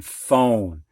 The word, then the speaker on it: phone: silent h whale and ph sounding like an f as in phone now what i don't